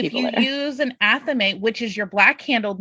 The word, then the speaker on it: athame: If you're if you're using a wand, you probably don't need an athame or Yeah. a thame. That's apparently another way to pronounce it.